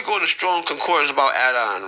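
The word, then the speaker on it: אדון: it's a uh it's adon right it's a masculine noun referring to a man, right? Uh transliteration adorn adorn pronunciation phonetic or don definition lord master owner meaning a sovereign or a controller.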